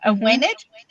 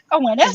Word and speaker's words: Awenydd: So you've mentioned her podcast before, her YouTube channel before, Awened, but we'll say it like Neil says it. Aweneth.